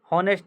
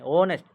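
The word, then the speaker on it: honest: sound ओ ओ start ओनेस्ट होनेस्ट नहीं ओनेस्ट on correct answer चलो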